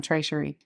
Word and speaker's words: Trey Cherie: Y'all know how to say my name? Oh my God. It is French.